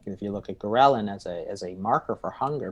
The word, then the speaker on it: ghrelin: I was reading your book with, is it ghrelin? Is that how you pronounce it?